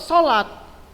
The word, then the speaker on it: salat: Tapi kalau sesuai dengan kaidah bahasa Indonesia, yang benar itu SALAT, salat. Bagaimana bacanya? Bacanya tetap sholat.